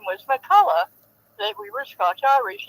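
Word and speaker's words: McCulloch: And it was spelled like that chainsaw is, and we usually say Molak, but hers was pronounced Makulla.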